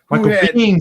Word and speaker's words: Biehn: Michael Biehn. Bean, sir. Bean.